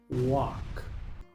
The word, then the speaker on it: walk: Muchos pronuncian esta palabra walk, pero aquí la l es muda, así que solo se pronuncia la W, la A y la K. Walk.